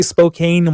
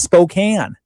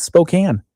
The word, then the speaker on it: Spokane: They all say Spokane, Washington. Oh. It's Spokane. Yes, obviously. It's Spokane.